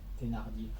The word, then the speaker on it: Thénardier: Thénardier.